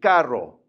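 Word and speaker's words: carro: Now, when you look at the double R, this makes more of that Spanish sound that you've probably heard, the trill sound. So, it's going to be kind of a R sound. So, this is going to be caro.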